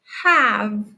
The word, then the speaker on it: have: a bossy E, and it bosses this middle vowel to be long to say its name, but not in this word. We don't pronounce it as have, we pronounce it as have.